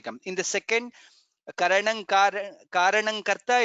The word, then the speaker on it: कारणं: second line karanam karanam there I could hear slight bit of na I am not sure if you pronounce it what we should get here is ka kha ga gha nga and ka karanang karanang karta that's how it comes there is no nakara there karanang karanang karta that's how we pronounce if you can chant